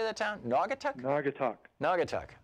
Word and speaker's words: Naugatuck: or noggin how do you say that town Naugatuck know I could talk Naugatuck okay what's up